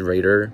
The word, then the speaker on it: Rader: my last name is raider pronounced saint pronounced the same as the now las vegas raiders so i got asked